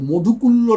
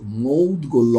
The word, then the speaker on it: মৌদগল্য: গোত্র বা মৌদগল্য গোত্র, মধুকুল্য না কিন্তু মৌদগল্য, অনেকে এগুলো ভুলভাল উচ্চারণ